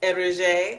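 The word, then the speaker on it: Eriza: That was, spelled E-R-I-Z-A, pronounced Erige. I think I actually said it right, Erige.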